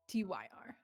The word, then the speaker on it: Tyr: Tier, like Tear. Tyr.